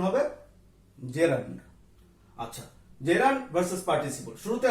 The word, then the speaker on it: gerund: জেরান্ড versus participle. শুরুতে আমি বলে নেই GERUND এই শব্দটিকে অনেকেই জিরান উচ্চারণ করে থাকে, কিন্তু এটি কিন্তু ভুল উচ্চারণ। সঠিক উচ্চারণ হবে জেরান্ড।